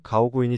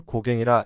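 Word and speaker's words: Gauguin: 프랑스 이름인데 영어 발음 그대로 말하면 폴 가우구인이 됩니다. 지인 중에 프랑스에서 온 할머니가 있는데 프랑스 화가 폴 가우구인을 아냐고 물었습니다. 모른다길래 한국에선 아주 유명한 프랑스 화가라고 말했습니다. 그러니 이름 스펠링을 가르쳐 달라고 하더군요. 프랑스 할머니는 스펠링을 보더니 한참을 웃었고 폴 고갱이라 읽으면 된다고 말해 주었습니다.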